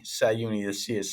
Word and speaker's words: Csahiouni: butcher your name when I say this but casion it's very close uh well Kevin thanks for having me it's actually sauni sauni the see is silent uh but thanks a